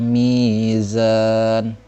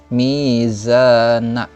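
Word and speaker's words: ميزان: Cara bacanya wa wada'al mizan. Mizan. Ya, nunnya jadi sukun ya. Jangan mizana. Salah itu ya. Nah, jadi cara bacanya wa wada'al mizan.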